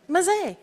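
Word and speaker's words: Mzee: I would pronounce it Mazy maay okay Dan pronounce it maay but we're welcoming to everyone so Mazy works too it's what me means a wise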